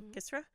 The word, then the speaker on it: kisra: the Sudanese made kisra it's k-i-s-r-a so gisra which is fermented Dough